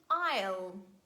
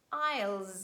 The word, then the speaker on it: isle: Letter S is not pronounced before letter L in the following words: island and isle. Isles. Never pronounce it, please.